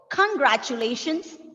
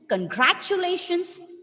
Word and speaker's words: congratulations: We have 5 syllables here. So, congratulations, congratulations, congratulations, congratulations, and congratulations. See, you can pronounce this word in 5 different ways, depending on the stress on the syllable.